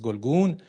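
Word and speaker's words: گلگون: For example, in Middle Persian, you have zargoni, being like gold, or anargon, like pomegranate, golgon, which in New Persian is pronounced as golgun.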